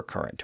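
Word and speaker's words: Courant: Usually spelled in the older way, but pronounced as current, like the Hartford Current in Connecticut.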